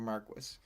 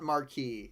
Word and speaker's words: Marquis: Um, it's specifically not marquee and it is Marquis like the British pronunciation and that's also it's also um I believe shioalier and not chevalier.